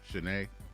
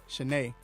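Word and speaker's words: Cheyney: but it just looked like it would be shine it's an um not a college it's something it's spelled just like that but it's they pronounce it shanae that's why i never know when hmcu i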